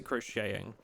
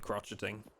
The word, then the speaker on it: crocheting: Okay, you pronounce it crocheting. It's probably the right way. Crocheting is the right one. Gotcha. Okay. Okay. RP crotcheting.